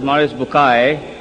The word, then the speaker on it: Maurice Bucaille: and a scholar of Quran Dr moris buk pronounced as moris bukai am I right doctor do matter okay uh